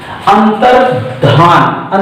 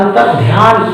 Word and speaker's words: अंतर्धान: अंतर्धान, अंतर्ध्यान कहते हैं उच्चारण में, वो गलत होता है।